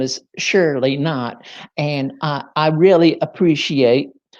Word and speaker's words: Knott: uh so many people so many people see my name is spelled k-n-o-t-t and they call me shirley cannot surely cannot oh no but i tell i tell them it's not cannot it's not so anywho uh i'm